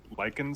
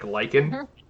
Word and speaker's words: lichen: circle i like that you say lichen stitch lichen stitch like lycan l-y i believe it's probably